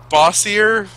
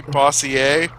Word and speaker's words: Bossier: It's Bossier, but it might be French. So it might be Bossier.